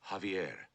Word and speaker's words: Javier: Javier beg pardon sir Javier not Javier The The J is silent you pronounce it like a ha ha Javier I can't say